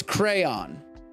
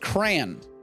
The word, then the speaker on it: crayon: the crayolas here it's crayon there's only one way to say this it's crayon it is literally spelled c-r-a-y-o-n how would that be pronounced crayon it's crayon those are two syllables it's absolutely crayon i want i'm very